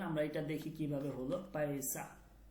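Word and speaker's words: پیسہ: চলেন আমরা এটা দেখি কিভাবে হলো, পয়সা, পে ইয়া সিন হে, পয়সা। এটা উচ্চারণ হচ্ছে এই পে, এরপর হচ্ছে ইয়া, এরপর হচ্ছে সিন, এরপর হচ্ছে হে, এই চারটা বর্ণ মিলে এটা হচ্ছে পয়সা, পয়সা।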